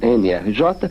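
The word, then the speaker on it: NRJ: j né melhor dizendo mrj que o pessoal aqui pronuncia como emergir quer dizer energia né que é uma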